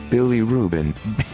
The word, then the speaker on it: bilirubin: Bilirubin. Bilirubin? It's B-I-L-I-R-U-B-I-N, but it sounds like a sandwich.